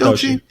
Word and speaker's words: Doechii: Am I pronouncing her name right? Is it Doechii or Doechii? It's Doechii.